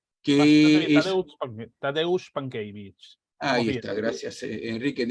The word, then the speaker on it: Tadeusz Pankiewicz: de este nombre que no me atrevo a pronunciar, Tadeusz Pankiewicz, que es... Tadeusz Pankiewicz.